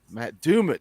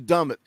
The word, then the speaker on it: Dumit: Every time I say his name now, I laugh because I said I always called you Dummit. Big Ball Daddy corrected me. We got it straightened out now.